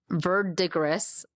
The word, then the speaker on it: verdigris: I mean, obviously terracotta, umber, verdigris. Verdigree, but that's actually pronounced verdigree.